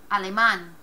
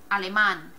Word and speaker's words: alemán: Next word, ends in an N. Emphasis should be on the next to the last syllable, so it should be here. Alemán. Alemán, but we don't say alemán, we say alemán. Alemán. Breaks the rule. Accent mark there.